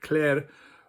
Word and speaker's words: klær: have the word klær, which is spelled with this letter, which is kind of a combination of those two letters, and it's pronounced more or less like an A, very much like the German letter A with the two dots on it, which is also an A.